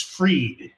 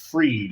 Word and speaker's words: Fried: Joe freed and it's freed he spells it like fried but it's pronounced freed and I have to